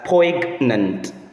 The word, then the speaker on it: Poignant: might mispronounce it as poant, but take note of it that the letter G there is silent in the pronunciation of that word.